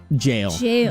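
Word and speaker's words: gaol: the ball that someone said that that's also pronounced jail that's how we're supposed to pronounce it apparently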